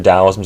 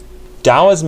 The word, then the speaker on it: Taoism: you say it tau and the d and the t sounds similar when it rolls off the tongue but i'm just going to call it here taoism just to stick with